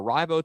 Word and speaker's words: Arrivo: Is it Arrivo or Arrivo? Tell me the correct pronunciation of that. It's Arrivo.